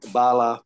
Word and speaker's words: Bala: um saying your name so that I don't mispronounce it yep um Bala P Bala P yes and I am